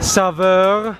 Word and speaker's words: saveur: Saveur, Oh my variété, and confort.